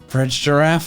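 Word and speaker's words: Farigiraf: I'll do it myself the official way to say for rigorraf Bridge giraffe why would Nintendo do this soft G versus hard G is just always gonna be an English language problem GIF versus GIF or a giraffe photograph giraffarig has both of them in the same word it's too much a trap engine C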